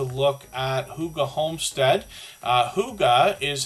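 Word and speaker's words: hygge: we're going to look at Huga Homestead uh Huga is how we pronounce this word h y g g it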